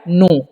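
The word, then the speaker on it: know: क्या लिखा हुआ है नो इससे पढ़ते हैं नो के यहां पर साइलेंट होता है ठीक है ध्यान रखना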